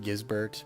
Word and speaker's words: Gisbert: I'm pretty sure it's pronounced Gizbert, but I'm going to keep on calling him Gizbert because I'm 12.